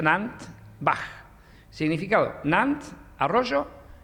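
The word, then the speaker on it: Nant Fach: Nuestro museo es el molino, se escribe Nant-Fach, se pronuncia Nant-Bach.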